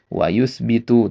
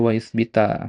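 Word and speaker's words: وأثبتُ: Nah, wausbitu tadi antum bacanya wausbita. Mungkin antum terkecoh nganggap dia domir anta gitu kan.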